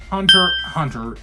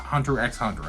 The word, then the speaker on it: Hunter x Hunter: By the way, I figured this out recently, and a fan of the anime told me that it is pronounced Hunter x Hunter, not Hunter x Hunter.